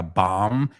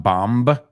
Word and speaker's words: bomb: Okay, acuérdate, la palabra bomb, la ves muda. So it's not bomb, sino bomb.